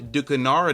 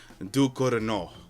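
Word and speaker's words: Ducournau: Alpha directed by Julia Ducanara. Now, we're going to try that again. Okay, I just looked it up. Apparently, it's pronounced Dorino. Look, listen, listen, listen, listen. Alpha directed by Julia Duino.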